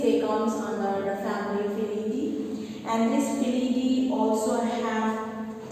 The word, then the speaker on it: Felidae: Alright, so you're going to pronounce it as Felidae.